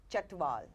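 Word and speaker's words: Chhatwal: How do I pronounce? Chatwal, C-H-H-A-T-W-A-L.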